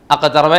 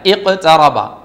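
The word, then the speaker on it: اقْتَرَبَ: ഇഖ്തറബ കാണുന്നില്ലേ, ആ ഒരു സൂറത്തിൻ്റെ തുടക്കം തന്നെ അങ്ങനെയാ. അഖ്തറബ അല്ല, ഇഖ്തറബ. രണ്ടാമത്തെ അക്ഷരം ഏതാണ് ഹംസത്തുൽ വസ്ലിന് ശേഷമുള്ള രണ്ടാമത്തെ അക്ഷരം? ച, അതിന് ഫത്ഹാണ്, അതുകൊണ്ട് ഇ.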